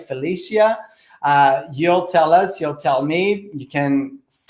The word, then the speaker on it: Felicia: Felicia, it's good. Right, either way, right? So I got my name butchered all the time, like. I mean, I got it all. So Felicia, right, good.